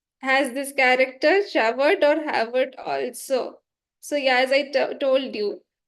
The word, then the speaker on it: Javert: Now, Havert or Javert. It's written as Javert, but pronunciation is Havert. It's European. So pronunciation is a bit different than what it is written.